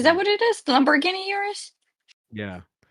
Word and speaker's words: Urus: Lamborghini Urus. Yeah. The first time I heard somebody say Urus, I'm like, "Are you are you mispronouncing Toyota Yarus?" Yurus.